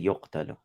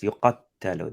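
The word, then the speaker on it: يُقَتَّلُوا: Because Allah in that verse doesn't say yuqtalu. Allah says yuqattalu. There is a force there over the verb. You got to pronounce it with the force.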